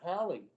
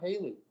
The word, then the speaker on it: Halley: true for halley's comics the guy's name was hallie his name was not haley but what happened you